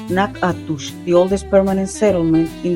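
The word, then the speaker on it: Natchitoches: Another hidden gem is the city of Nachitois, pronounced Nakatush, the oldest permanent settlement in the entire Louisiana purchase territory, even older than New Orleans.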